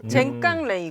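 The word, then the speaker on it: 前官礼遇: 젠깡레이구. 그러니까 전관 예우의 한자의 일본식 발음이에요.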